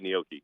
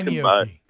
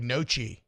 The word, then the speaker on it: gnocchi: Where would I buy gnocchi? The Asian you can buy market? it in the refrigerator. No. It's GNOCCI. I've never pronounced that like that in my head. I've Gnocchi, always called that like nochi or gnocchi.